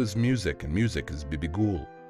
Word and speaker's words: Bibigul: music and music as BB ghoul the name of the singer and music as a twin which should be pronounced together her singing composition gaucha